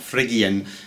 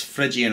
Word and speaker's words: Phrygian: Mode 3, which in this key starts upon E, this is called Phrygian, and it's spelled with a silent P, so it's not F-R-I-G, it's not Phrygian, it's Phrygian, or sometimes pronounced Phrygian, and it's spelled P-H-R-Y-G-I-A-N with a silent P.